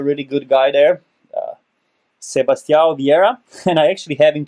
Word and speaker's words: Sebastião Vieira: So Sebastião Vieira, did I pronounce this right? Yeah, Sebastião Vieira, yeah.